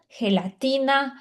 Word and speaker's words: gelatina: Então, toda vez que você vê a letra G com a letra E, e, a letra G com a letra I, vai ter esse som como se fosse um R, né, no nosso português. Então é latina, Giovana.